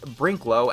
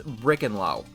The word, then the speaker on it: Brinklow: think of is that I mispronounced the Artist brinklow as brick andlaw and she wasn't the